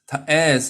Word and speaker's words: heirs: Heirs are Tayat. Heirs is pronounced as heirs, no H.